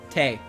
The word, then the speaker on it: Tei: Tei Inaba, with a silent W. See? See? She confirmed it. Her name is one syllable. Tei.